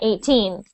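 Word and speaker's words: eighteen: the smaller number 18 you say teen very much louder than the eight so you say 18 but when you say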